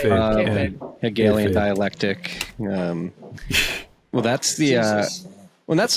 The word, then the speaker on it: kayfabe: What is it? K-fob? How do you pronounce it? Kayfabe.